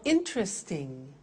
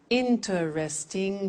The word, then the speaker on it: interesting: three okay one more interesting that's quite difficult interesting how many syllables four interesting pronunciation interesting relaxing relaxing